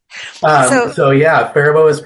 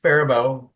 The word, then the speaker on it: Faribault: Faribault it's pronounced Faribault. A lot of people pronounce it Faribault. The T is silent at the end, coming from our French-Canadian history in this area.